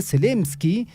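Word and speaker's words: Zelensky: negociación sin nosotros no la aceptaremos dice volodimir selsky se pronuncia así después de que Trump anunciara bueno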